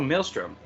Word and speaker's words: maelstrom: so introductions i'm mile um how do you pronounce the word maelstrom like vortex oh maelstrom yeah that's his that's where his name comes